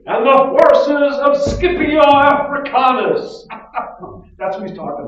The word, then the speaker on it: Scipio: tunisia carthage is defeated by roman general nucleus scipio that's how you say his name scipio later honored with the title africanus it ends